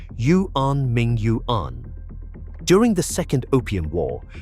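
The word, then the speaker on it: Yuanmingyuan: The name is pronounced Yuan Ming Yuan.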